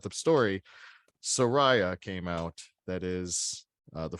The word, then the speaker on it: Soraya: quick that was though, is it actually pronounced Soraya? it's Soraya. It's spelled Soraya.